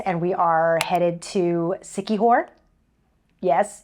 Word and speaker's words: Siquijor: cool I like it it's like a sticky horror you know so yeah